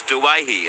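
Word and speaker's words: Doueihi: When it comes to Adam Dewey's name, you take the easy pronunciation of Dewey. Adam's last name is Duwahi, a very big family in North Lebanon.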